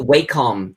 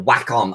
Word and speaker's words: Wacom: The Wacom, or Wacom, I think it's meant to be pronounced as, but I hate saying that.